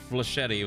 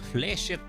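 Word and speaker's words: flechette: That's probably why I pronounced it like fletchetti when it's I guess fchet or fchet. Okay. So, I'm not crazy. It's just more I didn't know how to pronounce it correctly. Fletchet. Fleshet rounds.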